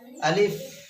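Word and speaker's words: ألف: আলিফ আলিফ। যদি এই যেমন বাংলাতে আছে অক্ষর প আর ফ, প প আর ফ, আমার এই আলিফের ক্ষেত্রে শেষে ফ উচ্চারণ হবে, প হবে না।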